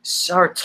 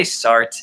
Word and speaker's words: Sartre: and then Sartre and he keeps pronouncing it really it's like search ah like that's the way that Michael J Fox is saying or circle so uh you're just like calm down just say Sartre it's fine we're not